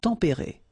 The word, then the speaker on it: tempérés: Final S not pronounced, but then you should definitely pronounce the accent. Tempéré, okay?